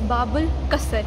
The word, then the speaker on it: Bab Al Qasr: bubble let me let me see how you pronounce it okay it's bubble custard yes so we are right now in bubble